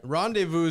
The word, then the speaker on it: rendezvous: English cul-de-sac Rendezvous French Rendezvous is outrageous that's French too we don't need to know how to spell that run it's run this Valley with a z there's a z in there too it is yeah it's silent yeah don't I don't there's